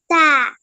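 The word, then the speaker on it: ت: তোমার জিহ্বার আগাটা উপরের যে সামনের দুটো দাঁত রয়েছে সেটার গোড়ার সাথে লাগবে, এভাবে।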